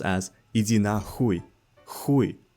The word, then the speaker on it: хуй: It's pronounced as "иди нахуй," "хуй," not "hoy," not "иди нахуй."